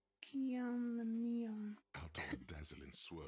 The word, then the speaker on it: Guillaume Lamillion: If it doesn't rhyme, you're not pronouncing it right. Guillaume Lamillion.